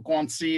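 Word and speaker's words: 关系: like to quote um guanxi uh if you're all familiar or guanxi as the chinese like to pronounce it um most westerners think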